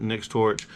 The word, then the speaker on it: Nextorch: Nextorch.